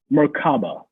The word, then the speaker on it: merkaba: word that is uh pronounced by us as merkaba merkaba m-e-r-k-a-b-a in ancient egypt